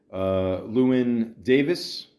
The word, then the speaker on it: Llewyn Davis: But inside, Llewyn Davis, I think I finally said it right, is a good movie.